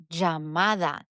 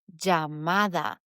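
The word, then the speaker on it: llamada: l or the ej it is pronounced jj Jamada. Jamada. Jando.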